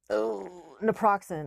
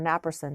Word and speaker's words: naproxen: non-steroidal anti-inflammatories um naproxen or knapperson depending on how you want to pronounce it then you've got your